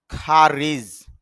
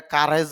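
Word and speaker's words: courage: খারিজ সাহস যদিও আমরা এটা কারেজ বলি তবে এখানে খেয়াল করতেছি আইপি অনুযায়ী খ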